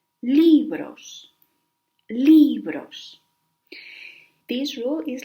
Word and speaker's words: libros: If the word ends in S, N, or in a vowel, the stress goes in the penultimate syllable. Libros.